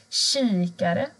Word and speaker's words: kikare: Kikare. Här ser ni en kikare. K och I blir sj.